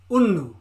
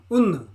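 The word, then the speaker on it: ഒന്ന്: to look for a phonetic pronunciation a phonetic pronunciation a sour look so these are the numbers in Malayalam so number one is una una una una see that for me una two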